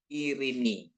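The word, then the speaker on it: ειρήνη: Ini kan namanya Yota ini kan sering dibaca eta gitu ya, eta, tapi ita gitu ya, ita bacanya jadi irini.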